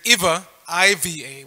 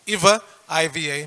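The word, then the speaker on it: इव: being mixen pronunciation wise there's the word Ava evva which means certainly yeah and there's IA Iva which means like and we've heard that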